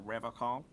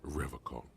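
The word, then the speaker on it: Revachol: but someone has to stay strong for Revocall. He says Revocall, like Yeah. Nippon instead of Nihon. He's got some extra patriotism on that pronunciation. He pronounces Revacol with a hard K, unlike other people.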